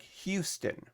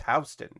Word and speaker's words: Houston Street: Um, in New York, it's Houston, even though it's spelled like Houston, but it's Houston Street in New York.